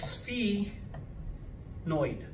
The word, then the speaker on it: sphenoid: the sphenoid it's spelled like this but it's pronounced like spe noid okay it's the sphenoid bone ethmoid and sphenoid okay so now if